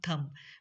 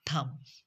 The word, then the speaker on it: thumb: And just like this, thumb, thumb, thumb, when it comes before when b comes after m, or m, letter m comes before b, it produce sound m, thumb, thumb.